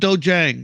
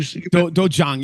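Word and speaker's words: 도장: A lot of people pronounce it dojang or dojang. There's actually an H in the spelling when it's phonetic, so we just kind of carried out dojang.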